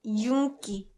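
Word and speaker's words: 윤기: yoongi jungi but uh when yoongi is an actual word that means shine it's a noun that means shine you usually use when you mean like shine on your hair it's pronounced yunki yunki yunki so if you say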